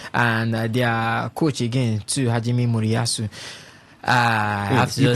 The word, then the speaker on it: Hajime Moriyasu: We saw They came against came against Netherlands and their coach again too, Hajime Moriyasu. I have to say You pronounced that so so well, Ovie.